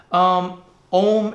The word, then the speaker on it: Om: Om is about taking it to this highest level of consciousness, supreme consciousness. It's made up of 3 syllables, A, U, Ma.